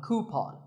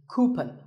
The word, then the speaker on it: coupon: one of these, a coupon. A common incorrect pronunciation is coupon, but the second syllable should be pawn, so coupon.